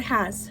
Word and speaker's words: has: you would expect so in the word has for example the h is regular ha the ah follows the closed syllable rule it's a short a so it says ah and the s sound is actually a z it has the letter s but it makes the sound z and that's the same